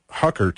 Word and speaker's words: Huckert: We've got online with us, we've got Bill Murphy, and we've got Huckert, and I'm pronouncing that correctly, right? Yes. Okay, Huckert, and we're talking about spirit photography and these amazing pieces of evidence that are coming out.